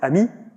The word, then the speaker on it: AMI: little more lose also we pronounce it Ami which in French means friend makes sense um okay